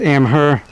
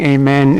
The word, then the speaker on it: Amheh: It's pronounced amh her. The spelling is am h e h. That's a stylized h. I've heard some of the reviewers saying amen.